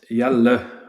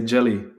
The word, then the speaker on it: Jelle: Like how my mom says it, it's Jelle. We explained the last LE, Jelle.